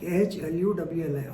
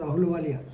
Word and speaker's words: Ahluwalia: Ahluwalia, Ahluwala, Ahluwalia, normally you pronounce it as Ahluwalia.